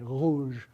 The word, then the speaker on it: rouge: So if you're pronouncing the French word for red, one of the ways to do it is with this fricative, to say rouge, that sound is a voiced uvular fricative.